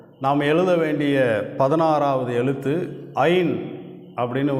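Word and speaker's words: עין: இந்த எழுத்தை ஐன் அப்படின்னு உச்சரிக்கிறோம்.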